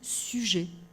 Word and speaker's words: Suger: Le concepteur de la cathédrale de Saint-Denis, alors on dit, ça s'écrit Sugère, on dit Suger.